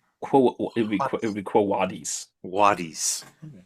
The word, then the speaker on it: Quo Vadis: Quo Vadis? It would be Quo Vadis. Wadis. Vadis is not how they would have said it, but it's Mm, fine. We're not. Wadis. We'll go with medieval Latin pronunciation.